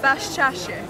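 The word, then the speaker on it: Baščaršija: pronunciation and what again i pronounced it wrong again okay you pronounce it yeah is it bashashi exactly this is a tradition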